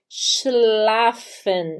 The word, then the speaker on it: schlafen: então não se desespere Quando você vê um s um c e um h juntos porque ele fica fácil de pronunciar ele é o X é o nosso x do Brasil Então aqui a gente